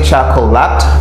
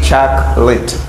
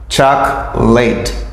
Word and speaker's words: chocolate: chocolate I don't say chocolot I say choc lit I say chit here this o is silent I don't really pronounce the letter O this letter O Okay I say Chuck Chuck late Chuck say do